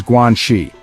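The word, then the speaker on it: 关系: first word we're exploring is guii gu first and fourth tone this term is deeply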